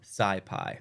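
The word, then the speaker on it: SciPy: need to pip install Sai Pi which is spelt right here s CI py so I'm going to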